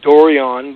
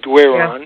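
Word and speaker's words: Doiron: Well, yeah, see, Dorian is a French name, and it's spelled D-O-R-I-O-N, and my name is D-O-I-R-O-N, so the way it's spelled, most people call us Dorian, but it's actually Dwayron.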